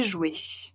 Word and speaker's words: joué: Au passé composé, « j'ai joué ».